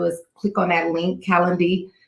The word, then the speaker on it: Calendly: All you have to do is click on that link, Calendly. I always say it wrong. I want to say calendar, but it's not calendar.